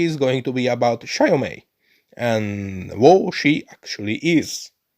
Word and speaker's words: Xiaomei: Xiaomei. Xiaomei. Xiaomei. Xiaomei. Well, it's easier than I thought first. The X at the start is scary.